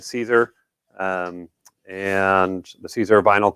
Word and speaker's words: Siser: company at 12 o'clock the uh caesar finally said it right cesar um and the caesar